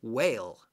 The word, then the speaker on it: whale: two letters here that are silent that we don't say the H and we don't say the L I'm sorry we do say the L we don't say the E we don't say the H and we don't say the e don't say that L that would be silly whale whale okay